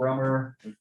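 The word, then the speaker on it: Rømer: sustainable stronger i think his name was old romer that's the pronunciation it was looking at uh io orbiting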